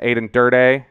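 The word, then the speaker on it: Aden Durde: joe whitt jr um aiden durdee is is what we're going with on the pronunciation there until i figure out for sure aiden durde the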